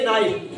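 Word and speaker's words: knife: इसलिए के साइलेंट है। क्या पढ़ेंगे? नाइफ।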